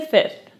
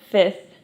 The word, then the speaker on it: fifth: the third expression is to plead the fifth when you say the word fifth that s the second F is silent. so you just say /f/ a fit plead the fifth.